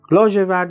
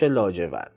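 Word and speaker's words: لاژورد: takht-e piroozeh peydā shodi" "Lāzhevard" means indigo, blue, black and dark. The Arabized version is "lājevard" because in Arabic there is no "zh" sound, they pronounce it "j" Therefore the Persian pronounciation is "lāzhevard" "Shab-e lāzhevard" means dark night.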